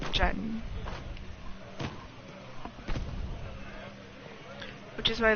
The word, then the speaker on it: diyan: Diyan. Because the proper spelling of it would be like D-I-Y-A-N, so Diyan. But you'd pronounce it as Jan.